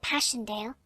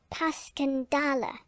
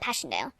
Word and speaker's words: Passchendaele: was so strange to hear you call it passion dale why if i may ask because that's the way i pronounce it to myself but i looked it up and it's more like pascandala bless you all the tommies call it passchendaele